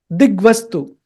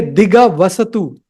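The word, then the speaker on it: दिग्वस्तु: Digvastu. Don't say diga. Don't say diga vasatu. It is not diga vasatu. It is digvastu.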